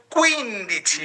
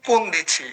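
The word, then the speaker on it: quindici: উন দিছি কুইন দিছি আবার এভাবে বলেন না যে উন দিছি কুন দিছি বা উইন দিছি কুইন দিছি না দুইটাই সম্পূর্ণ ভিন্ন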